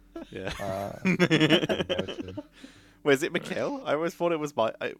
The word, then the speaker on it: Michael: Wait, is it Mikhail? I always thought it was I'm from England, so we always called him yeah, Michael in Schumacher. German the pronunciation is Michael, but in English Yeah. Call him Michael.